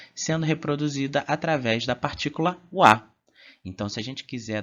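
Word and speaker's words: は: O nosso próximo ponto gramatical será a partícula wa, que é escrito com hiragana ha, mas a gente vai pronunciar como wa ou ua, né?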